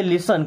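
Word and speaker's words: listen: टी को देख लीजिए कुछ जगहों में टी साइलेंट होता है हालांकि एस के बाद आता है उसी केस में होता है इसे लिस्ट नहीं पढ़ते लिसन क्या पढ़ते हैं लिसन इसे फास्टन नहीं पढ़ते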